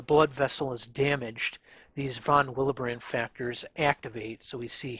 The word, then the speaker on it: von Willebrand: And so down here, we'll talk about another one of the biomarkers, which is called the von Willebrand, or von Willebrand, I guess, would probably be the German way of pronouncing it.